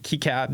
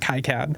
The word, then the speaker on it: KiCad: with was kead and I think that's how you say it kead not Kad yeah um I didn't